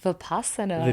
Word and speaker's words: Vipassana: You're gonna have to correct me on the pronunciation of this. Vipassana? Yes, Vipassana.